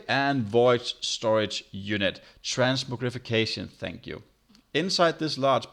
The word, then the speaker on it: transmogrification: I can never pronounce that word. Transmogi and void storage unit. Transmogrification, thank you.